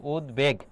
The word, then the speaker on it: উদ্বেগ: বহাল রয়েছে সেটা দেখো উদ্বেগ ছিল কি ছিল উদ্বেগ এই বানানটা এটাই ব ফলাটা তোমার বহাল ছিল উদ্বেগ এটি মনে রাখবা তাহলে